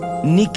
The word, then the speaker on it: Nike: falcon y dimension six pronunciado como Nike en inglés Nick en español es el nombre de la diosa griega de la Victoria Phil quedó encantado y